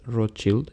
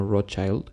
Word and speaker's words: Rothschild: banquero sionista walter rothschild la pronunciación más cercana en teoría es rothschild y no rothchild pues viene del germano escudo rojo de crear un hogar